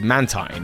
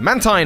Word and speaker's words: Mantine: unique, and that is Mantine. Mantine, or Mantine depending on your pronunciation, is often seen with a Remoraid under its wing.